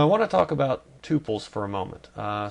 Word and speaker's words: tuple: Now I want to talk about tupils for a moment. Uh some people call these tpples. Both pronunciations are correct but tupless is the preferred.